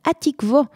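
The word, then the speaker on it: התקווה: D'ailleurs, pour la petite histoire, comme beaucoup de poésies juives de l'époque, il est écrit pour être lu avec la prononciation ashkénaze, Atikvo, Tikvoteinu.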